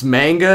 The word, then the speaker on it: manga: It's manga, not magna.